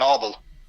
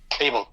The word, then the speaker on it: Abel: for mankind forever since Co and Obel able sorry Kan and Abel yeah sorry I pronounced it wrong you're you're fine you